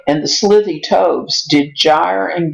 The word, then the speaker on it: gyre: You knew that this was gyre, but this was gimble, because GY makes the J sound, GI makes the G sound.